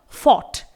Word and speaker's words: fought: इसके बाद है फॉट, FOUGHT। यहां पर भी GH साइलेंट है।